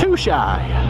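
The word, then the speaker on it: Tutshi: kajagugu no Lake t-u-t-s-h-i which he pronounced too shy means charcoal charcoal gonna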